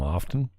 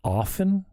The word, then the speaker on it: often: I talk about him often. Is it often? The T is silent?